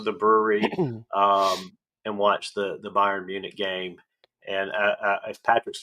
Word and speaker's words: Bayern: go down to the brewery and watch the Bayern Munich game. And if Patrick's still on here, I hope he's proud that I'm pronouncing Bayern correctly instead of Bayern like I was.